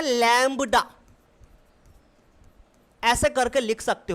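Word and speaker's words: lambda: ऐसे लैम्बडा, ये बी है लेकिन बी साइलेंट होता है, लैम्बडा पढ़ते हैं, इसलिए मैंने लिखा तो लैम्बडा है पर लैम्बडा ही बोलोगे, बा को आप हटा के चलोगे।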